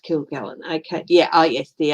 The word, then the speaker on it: Kilgallen: is kilgallen okay yeah her name is pronounced kill gallon okay yeah oh yes